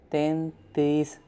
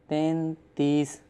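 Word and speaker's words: تینتیس: 33 Tantees. Ten tees. 10 mean 3, teen and tees mean 30. Tantees.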